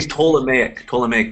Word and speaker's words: Ptolemaic: I think we say Ptolemaic, the P is silent. Ptolemaic dynasty, a family of Greek origin that ruled Egypt after Alexander the Great's death.